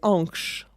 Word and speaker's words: Ankh: La prononciation, déjà, c'est tout à fait de nous de ne pas mettre bien les valeurs phonétiques. En vérité, on le prononçait Ankh.